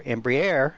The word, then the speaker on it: Embraer: the Brazilian aircraft manufacturer Embraer or embri depending on how you want to pronounce it it can carry